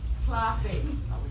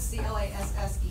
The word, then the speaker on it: classe: It's true, because in Spanish, like you would say like, classe, right? And in French, it's C-L-A-S-S-E, and it's pronounced class.